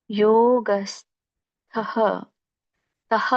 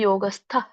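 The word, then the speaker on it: ಯೋಗಸ್ಥಃ: ಸಮತ್ವಂ ಯೋಗ ಉಚ್ಚತೆ ಹೇಳ್ತೀನಿ ಯೋಗಹ ತಹ ಅಂತ ಹೇಳ್ಬೇಡಿ ಯೋಗಸ್ಥ ತಕೆ ದೊಡ್ಡ ತವತ್ತಿದೆ ಯೋಗಸ್ತ ಗುರು ಕರ್ಮಾಣಿ ಸಂಗಂ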